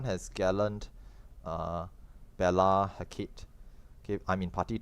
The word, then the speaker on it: Hecate: And it's pronounced Hecate, not Hecate.